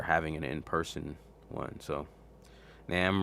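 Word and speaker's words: NAMM: an in-person one so nam rhymes with ham nom so it's namra okay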